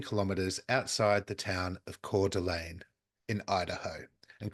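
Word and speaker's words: Coeur d'Alene: house about 15 kilm outside the town of cordelan in Idaho and cordelan is like the French version c u r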